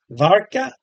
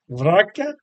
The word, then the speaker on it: Warka: and like I said this is probably pronounced more with a V varka varka yeah because I don't think Polish people pronounce the W but uh it says